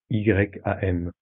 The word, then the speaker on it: Yam: laissez ce centre vibrer sur le son Yam, Y-A-M. Yam. Une nouvelle fois. Yam.